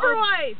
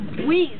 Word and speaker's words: Oberweis: It's Oberweis. Obese. It's Oberweis. Obese. Oberweis. Obese. Yes, we're fighting over the name of an ice cream shop at this corner that we're filming. The R is silent. It's Oberweis.